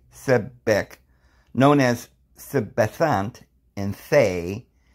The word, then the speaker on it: Sebek: So it says Sebek, pronounced Sebek, known as Sebethant in Thay and as Sebakar in Unther.